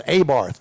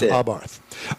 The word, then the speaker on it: Abarth: the pronunciation because you know there are people that go oh it's Abarth. No it's not. It's Abarth.